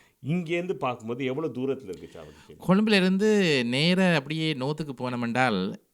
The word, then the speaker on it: சாவகச்சேரி: ஸோ என்னென்னா, நீங்கள் வந்து அந்த ஹிந்து காலேஜில் படித்து சாவக்கச்சேரி, கரெக்டாக சொன்னேன்னா இல்லை அது எப்படி ப்ரொனவுன்ஸ்? சாவகச்சேரி.